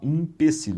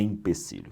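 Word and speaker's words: empecilho: Então as pessoas têm a mania de falar impecílio, não é em em é empecílio, tá bom?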